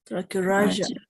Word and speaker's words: tracheorrhagia: Tracheorrhagia. Yes. Always with this G and H, Raja.